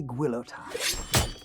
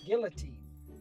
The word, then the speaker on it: guillotine: And if you bought one of his signature amps, it came with a free guillotine. Guillotine. What's that? It's pronounced guillotine.